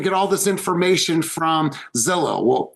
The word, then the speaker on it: Zillow: They were talking about a company that rhymes with pillow. Now go. Then you can take yourselves off mute. Zillow.